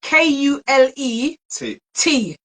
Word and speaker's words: Kule T: It's Cool T as in is Kule T. Not cool as in cold tea.